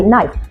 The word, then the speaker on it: knife: Kita tidak mengatakan knife tapi knife.